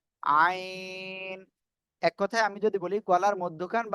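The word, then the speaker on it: عين: যে আইন ঠিক আছে এই অক্ষরটা কি আইন গলা চেপে হ্যাঁ কি বললাম গলা চেপে গলা চেপে আপনি চার আলিফ টেনে এই অক্ষরটি উচ্চারণ করবেন আইন আইন এক কথায় আমি যদি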